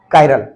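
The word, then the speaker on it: chiral: कायरल बोलते हैं, spelling तो चाइरल टाइप का आता है, पर क्या बोलते हैं, कायरल।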